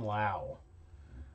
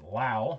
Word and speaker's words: Lowe: also known as brandon lowe around here uh we've been calling him low seen on the broadcast last night about how his name is pronounced lao so i guess i'll pronouncing brandon lau even though you as